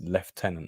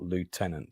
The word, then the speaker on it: lieutenant: Pegasus Bridge script said look guys it's like it's left tenant not Lieutenant start americanizing it was quite